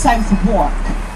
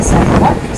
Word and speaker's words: Southwark: So this area is called Southbank, or you might have seen it and thought it was pronounced Southwark.